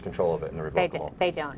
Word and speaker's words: revocable: You're obviously saying it right, revocable. Yep. And I say revocable. I say revocable. And people say it different ways.